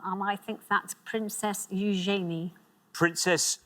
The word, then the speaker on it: Eugenie: the last one, and I think that's Princess Eugenie. Princess Eugenie, or Princess Eugenie, as I've heard it pronounced.